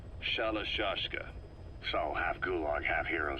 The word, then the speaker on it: Shalashka: somewhere along the line, Shashka got stuck on the end of Sharashka. The gorillas were using the name amongst themselves, and by the time I got to hearing about it, pronunciation had wound up as Shalashka.